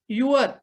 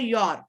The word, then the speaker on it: your: Second word युअर. तुम्ही जे म्हटलात त्या शब्दाचा उच्चार असा आहे योर. YOUR, योर. युअर नाही.